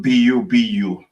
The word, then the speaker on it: Bubu: It is spelled B-U-B-U, which is mean the globe, and at the same time it mean also it could mean the earth or the ground.